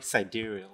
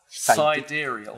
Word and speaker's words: sidereal: The sidereal. Sidereal. Yeah. I've become smarter. Side and real. Sidereal.